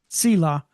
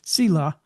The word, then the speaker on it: Zillah: Selah. It's a TZ, it's a Saudi. Selah.